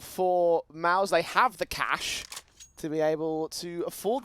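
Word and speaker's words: Cache: go shout out rad are you still saying it wrong what it is it's cash we invented the language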